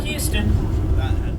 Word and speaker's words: Houston Street: Spelled like Houston. He pronounced it Houston.